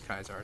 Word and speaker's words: Caesar: yeah render kaizar so I thought he was pronouncing it as Caesar but he then pronounced it as kaisar so I guess he